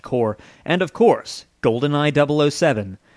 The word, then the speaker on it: Corps: With a track record of games that included titles like Donkey Kong Country, Killer Instinct, Blast Corps, yes, it's pronounced Core, and of course, GoldenEye 007, they had become one of the most admired developers of their day.